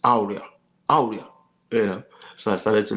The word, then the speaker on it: Auria: He put me through a lot of the consonant sounds and taught me how to even pronounce Auria. That is not Auria, it's Auria, Auria.